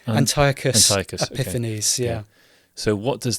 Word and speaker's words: Antiochus Epiphanes: Antiochus Epiphanes.